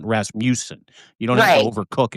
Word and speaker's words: Rasmussen: Did I get No, you didn't. It's Rasmusen. But that's okay. Dean Rasmmanson.